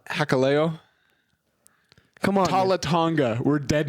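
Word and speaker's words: Hikuleo: for Hakulo? That's not his name. And you said it wrong again. Hakuleo. Hakaleo?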